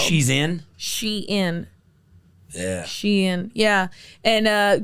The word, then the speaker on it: Shein: Yeah, Shein is how it's spelled. She's in.